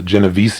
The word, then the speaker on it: Genovese: if I recall, I believe it's called the Genovese incident. Is that how it's pronounced?